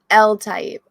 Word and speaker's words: Eltaeb: right it's okay how do you say it l-type okay yeah yeah yeah i think i listened